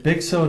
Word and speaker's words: Bigso: Now, how do you pronounce the name of your company? Bigso?